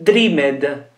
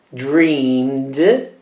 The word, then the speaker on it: dreamed: Forse dreamed. Ok. Dreamed. Dreamed. Quindi si pronuncia una D alla fine e la vocale non si pronuncia.